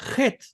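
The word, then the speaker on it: חֵית: La letra Het es una letra muy importante porque se confunde con la Hei tanto en pronunciación como en su escritura. La Het es idéntica a la J española en sonido.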